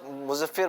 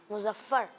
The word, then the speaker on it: مظفر: اچھا, بہت سارے بچے کیا پڑھتے ہیں؟ مظفر پڑھتے ہیں, یا جب بہت جلدی میں ہوتے ہیں تو مظفر پڑھ لیتے ہیں. تو ایسا نہیں ہے. یہ اس کا تلفظ کیا ہے؟ مظفر. جی ہاں, مظفر. مظفر اس کا تلفظ ہے.